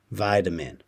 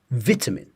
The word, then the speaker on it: vitamin: We're saying I here, vide, with this flap T, vitamin, vitamin. It sounds like a D to most people. Vitamin, vitamin, yeah? In British English, vitamin, vitamin, vit, I. So it's a short sound, I, vitamin, and a T is there. Vitamin. So, British, vitamin, American, vitamin. Okay?